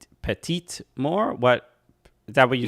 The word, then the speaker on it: petite mort: It's Le Petit Mort, which is the small death. Not which. Thank you for that clarification. But yes, in French, you pronounce the letter at the end before an e. Petite Mort.